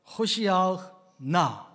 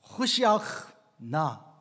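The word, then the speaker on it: הושיעה נא: 안나 아도나이 호시아흐 나, 안나 아도나이 하첼리아크 나, 여기에 들어있는 거예요. 앞부분에 있는데요, 호시아흐 나, 이 히브리어 발음이 원래는 이렇게 생겼어요. 호시아흐 나예요.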